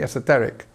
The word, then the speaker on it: esoteric: one we're looking for esoteric again we have this on the third syllable actually esoteric so what does it